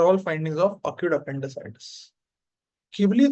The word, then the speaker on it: Ghibli: मतलब you think ये भी Ghibli ने pick up किया. And it's not Ghibli, yeah? It's Ghibli. It's not Ghibli. वो spelling Ghibli है, but it is pronounced as Ghibli.